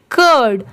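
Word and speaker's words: cured: मतलब बहुत सारी जगह पर इसे क्योर पढ़ा जाता है। बट यहां पर इसकी साउंड कर की आएगी।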